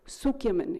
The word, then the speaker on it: Cukierman: As it happens, it hasn't been very widely researched, but there is one economist named Alex Zuckerman, it's spelled Cukierman, he's an Israeli economist,